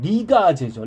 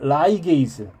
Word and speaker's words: ligase: 여기를 연결해주는 효소가 필요한데 네 번째 이거를 이제 좀 우리나라 발음으로 하면 리가제죠. 리가제인데 라이게이즈 DNA를 붙여주는 쉽게 말하면 뭐라 그럴까요?